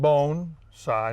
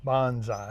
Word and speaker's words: bonsai: Bonsai, you pronounce it bone-sai, not bonsai.